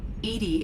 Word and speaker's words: EDI: airlock is a jar why are you named Edy Edy is the ftic pronunciation of e di that is an acronym